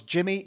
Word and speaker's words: Jimmy: problems that might arise it was yimy it was Jimmy not yimy though well okay so there's